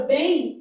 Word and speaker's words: bem: Na palavra bem há um dígrafo aqui, na verdade há um ditongo fonético, ó. Bem. Então, esse M tem som de I.